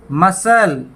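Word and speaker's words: muscle: भी सी साइलेंट है मसल हुआ है में मसल और यहां भी कौन सी साइलेंट है और मसल हत्या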